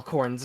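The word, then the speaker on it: Khorne: how to actually spell Corn's name real quick because that's important yeah there's an H in that word oh sorry k-h-o-r-n-n with the silent E on the end corn yeah I'm seedling with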